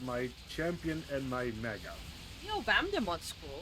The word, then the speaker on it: Neo Vamdemon: Oh wait, no, I said it wrong. It's Neo Vamdemon. Neo what? Neo Vamdemon. Neo Vamdemon. Yeah. That's a mega. Wait. Neo... Vadimon? What? V-A-M. V-A-M... D-E... Oh.